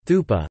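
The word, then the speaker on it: thūpa: thought to derive from the Pali word for stupa, thupa, the Sanskrit pronunciation being stupa.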